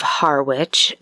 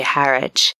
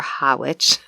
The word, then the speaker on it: Harwich: it had originally been part of the town of Harwich in the UK you'd say Harwich but we pronounce it's a hard R for people who don't usually pronounce their R's we say Harwich or hawich and so Brewster was